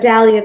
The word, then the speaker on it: Dalia: anyway is that when i say my name's dahlia they're like oh nice to meet you valerie